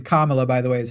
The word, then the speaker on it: Kamala: As you were saying, Kamala, by the way, is how you say her name.